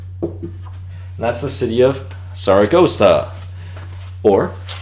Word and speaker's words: Zaragoza: And that's the city of Zaragoza, or Zaragoza, Zaragoza. That's what we have there. So, Seseo is pronouncing everything as if it were an S.